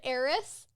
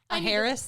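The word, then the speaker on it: heiress: was air a an ays a Harris I almost went very phonetic on that one well that's how it's spelled I know but I know better like give me a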